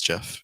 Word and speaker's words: Jeff: I by the way my name is Jeff it rhymes with breath which is one of